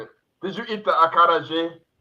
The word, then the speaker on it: acarajé: It's acarajé like that.